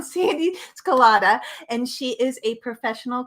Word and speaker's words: Sandee Sgarlata: it's my dear friend Sandee Sgarlata. I pronounced her name wrong, Sandee Sgarlata, and she is a professional coach.